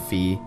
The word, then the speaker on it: Fi: I pronounce it Fee, others pronounce it Fi, so whichever is fine.